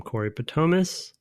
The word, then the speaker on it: Corey Patomas: the pre-internet era from Corey Patomas. That's how we pronounce it, right? Yep. Okay. Brett and Tim, thanks for reading my question, and you pronounced my name totally correct, which is honestly fairly rare.